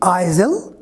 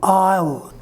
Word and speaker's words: aisle: second one is a i s l e i slave both the pronunciations are wrong what is the correct pronunciation i'll s sound is silent in this word look at the sentence